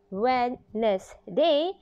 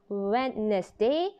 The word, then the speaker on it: Wednesday: be wednesday you know even though the word has three syllable when this day but actually we say it as wednesday not wednesday but wednesday say together wednesday remember say